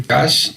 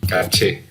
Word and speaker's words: caché: Esto se llama el cache. Aquí lo escribo en la pantalla. Se dice cache y se escribe caché. ¿Okay? El caché o cache.